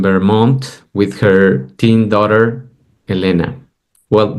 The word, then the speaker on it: Elena: with her teen daughter Elena well that's the Spanish pronunciation of Elena the correct pronunciation yes okay thank you